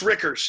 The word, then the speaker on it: Rickers: I'm pretty sure I'm now pronouncing her last name right. It's Rickers, yeah.